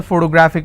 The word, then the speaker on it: photographic: G you graphic and the rule says if I have a word ending with IC I need to stress on the second last syllable so I'll pronounce this as he has a photographic memory so what are the syllable break it's four toe bra thick and since it's ending with IC I will stress on graph so where whatever is